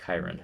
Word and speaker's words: Chiron: Just pronounce it for me. Chiron. Yeah, she says Chiron.